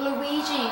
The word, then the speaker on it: Luigi: Team Luigi, it's pronounced.